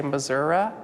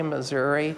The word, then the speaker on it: Missouri: Missouri and Missouri uh people pronounce it differently depending on what part of the state they're from politicians use both pronunciations